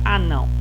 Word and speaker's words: anão: Sendo a penúltima sílaba, ela vai ser classificada em paroxítona. Muito bem. Agora vamos ver a palavra anão.